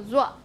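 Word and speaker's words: 熱: Zua, zua, zua. So zua is the tone in isolation.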